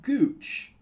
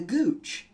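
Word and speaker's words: guiche: is that so and it's spelled like that GUI CH e the Gooch the part of the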